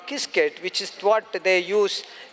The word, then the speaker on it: Qiskit: You have got a product called kisket which is what they use in actually it starts with Q but it has to be pronounced asqiskit. It looks like quiskit but it has to be pronounced as kiskit.